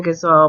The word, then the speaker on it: ghazal: Let's talk about ghazals, or you could pronounce it ghazal, and they're from Southern Asia, which I grew up calling the Middle East.